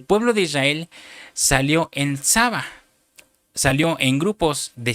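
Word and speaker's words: צבא: Lo interesante, hermano, que esta palabra ejércitos viene de una palabra hebrea, que se pronuncia Tsaba.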